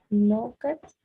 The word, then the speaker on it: knocked: and when somebody knocked on the door. Knocked on the door. Excellent. The E is not pronounced in this.